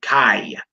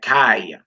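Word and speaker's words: חי: You pronounce that kai, as in life. All right, kai, as in life.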